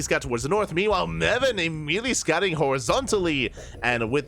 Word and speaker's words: Meven: Which one is it Meven or Meven? No. SCV is moving out. HyperONE still scouting for the expansion. Right, oh, Rhymes with 7. Yeah, there we go. There we go. Rhymes with 7. Meven.